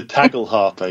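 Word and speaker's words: tagelharpa: another ancient instrument, the, I'm not going to pronounce it right, the tagel harpa? The tagel harpa, yeah.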